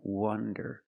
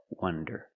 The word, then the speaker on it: wonder: Wander with the open sound, ah, wah, wander, and wonder with the closed sound, wah, wonder.